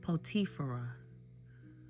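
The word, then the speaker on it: Potiphera: Joseph's firstborn Manasse and his second born Ephraim and the priest Potifera.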